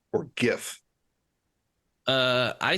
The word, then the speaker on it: GIF: mush is it pronounced GIF or GIF uh I say GIF because it's graphic interface files so I have to just think that the hard G stays uh and the final